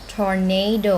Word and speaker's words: tornado: ต้ อ ง บ อ ก ว่ า tornado น ะ ค ะ tornado stress ที่ พ